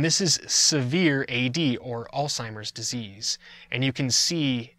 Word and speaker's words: Alzheimer's: disease and it's onset Alzheimer's disease I've heard people mispronounce as they say old-timers it's Alzheimer's and it's named after a doctor that researched it for many years Alzheimer's disease here is